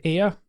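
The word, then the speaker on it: Ayr: from a town called air it's spelled a yr but it sounds like the word air we breathe um it's a town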